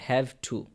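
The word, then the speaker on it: have to: আপনারা তো সবসময় ট এর উচ্চারণ করেন, ঠিক না? কিন্তু শুদ্ধ উচ্চারণ হচ্ছে টকে ঠ উচ্চারণ করা, হ্যাভ টু।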